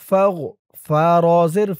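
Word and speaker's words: فَاغْفِرْ: ফা দিয়ে এই গইন ধরবে। ফা গইন জবর ফাগো, ফাগো, ফা রজের ফির, ফাগো ফির, ফাগো ফির। রব্বানা ফাগফির। লাম জবর লা, নুন আলিফ জবর না, লানা। রব্বানা ফাগফির লানা।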